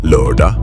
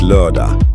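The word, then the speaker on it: lørdag: Saturday lura. Saturday is lura. It has that soft h sound.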